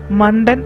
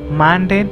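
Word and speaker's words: Mandan: മണ്ടൻ എന്നാണ് മലയാളത്തിൽ ഉച്ചരിച്ചാൽ, എന്നാൽ യഥാർത്ഥ ഉച്ചാരണം മാൻഡേൻ എന്നതാണ്.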